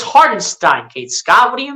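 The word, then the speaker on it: Hartenstein: Isaiah hardenstein Kate Scott I think I just heard Kate Scott pronounce Zara Einstein's name heart and shine like what is that it's hardinstein Kate Scott what do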